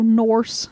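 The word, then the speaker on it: Nourse: Norse funny it's just funny the way you said it well it's it's spelled in O urs see like course but with an end so Norse interesting so he got mrs.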